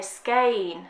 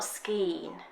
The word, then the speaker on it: skein: But I would say skein, not skeen. Well, yeah, but, skein.